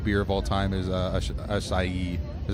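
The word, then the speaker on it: Asahi: Nick's favorite beer of all time is Asai." Is that how you say it? Asah.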